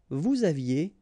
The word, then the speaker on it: vous aviez: Vous aviez, EZ at the end, et aviez, and then liaison. Vous aviez.